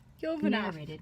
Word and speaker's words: Yovanoff: Yovanoff.